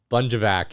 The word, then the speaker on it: Bunjovac: Bunjovac is what she goes by. That's the American way of saying it.